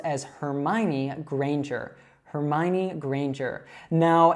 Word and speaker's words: Granger: So this is pronounced as Hermione Granger. Hermione Granger. Now, in the last name, Granger, you should say that A as if it were like in the word rain.